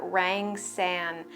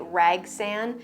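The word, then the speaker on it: rangsan: the hoya rang san i always say it wrong i say it rag san i don't know the first time i heard it i thought i heard rag sand so that's what stuck in my head but this is a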